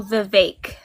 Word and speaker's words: Vivek: It rhymes with fake. So Vivek.